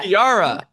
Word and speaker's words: Kiara: Kiara or Kiara? Yeah. Kiara.